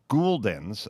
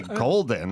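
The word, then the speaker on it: Gulden's: And there was also always the controversy with Jimmy and Goldens versus Gouldens, the pronunciation of the mustard. Yeah. He would say Gouldens, I think. I would say Goldens. I always thought it was Goldens.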